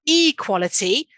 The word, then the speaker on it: equality: now look what happens it's not equality now we've gone across to equality making sure i had